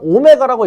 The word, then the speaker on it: 오메가: 자, 21번은 복소수 z랑 오메가라고 읽는 거예요. w가 아니고 이때 실수 부분하고 허수 부분이 0이 아니다.